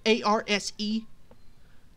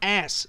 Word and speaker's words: arse: demonstration of his accent it's pronounced as us a-r-s-e it's pronounced oh not ass i'm like whoa it